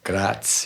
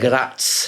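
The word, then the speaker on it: Graz: now you're from um see if I could pronounce this properly grass Gratz yeah Gratz yeah that's where an comes from I was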